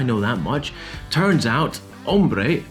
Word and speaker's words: hombre: Turns out, hombre, man, is with a silent H, and this means shades of leather.